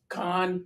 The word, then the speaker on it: Khan: I presume it's kind pronounced con actually pronounced it like con like Star Trek kind of.